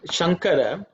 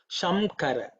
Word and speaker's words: Shankara: So, for example, if you the word Shankara here, I could have used Anuswara here also. But the thing is, I just wanted to point out that if I put Anuswara, people may even pronounce it Shamkara.